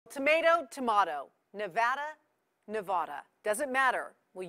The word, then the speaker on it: Nevada: I came out here I said nobody says it the other way it has to be Nevada right and if you